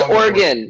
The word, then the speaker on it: Oregon: had i don't know oh it's organ it's it's organ it's organ i'm actually a native oregonian so that's the other